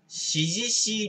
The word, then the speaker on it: CGC: 株式会社シジシージャパンだったら cgc て書いてあるんだけど指示しいって読むらしいねこれこれがあの